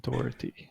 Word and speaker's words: Dougherty: His name is Dougherty. That's how you pronounce it.